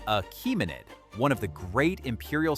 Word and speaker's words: Achaemenid: This is the Achaemenid Empire, pronounced Achaemenid, one of the great imperial systems of the